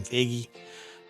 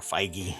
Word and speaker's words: Feige: Josh diamaro and the Marvel Studios head Kevin figgy or feige sorry I keep pronouncing that according to the Amaro the ride